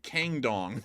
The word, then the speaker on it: Kangdong: Oh, is it Gangdong or Kangdong? It's like Kangdong. Like that's how it's pronounced.